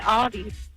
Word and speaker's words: Aldi: They I did I actually said I said Aldi's. I I said Aldi. Some people pronounce it Aldi's, but it's right.